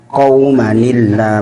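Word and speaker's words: قَوْمًا ٱللَّه: Cara bacanya gimana? Jadi kita sampaikan qaumanillah. Bahwasanya kalau ada nun iwad harus diberi harkat kasroh.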